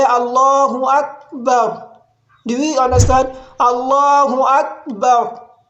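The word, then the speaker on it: الله أكبر: it is to say Allahu Akbar. And don't let the sound fade completely. For example, I say Allahu Akbar.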